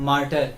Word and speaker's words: martyr: तो next word है मार्टर, यानी कि शहीद। यहाँ पे स्पेलिंग क्या लिखी है, MARTYR, मार्टर। इसमें वाई आपका साइलेंट होगा, तो इसे पढ़ते हैं मार्टर, ठीक है।